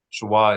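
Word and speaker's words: shva: you're going to write equals equals s h w a shwa or sha whatever you prefer Shah is the more historical Hebrew pronunciation right so the two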